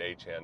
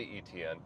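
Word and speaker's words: Etienne: are wondering about ETN, he's pronouncing it. I say now that's how he's always pronounced it, but he made it phonetically easier for people by saying just say ETN. So now it's uh it's back to Han, but they just let him go.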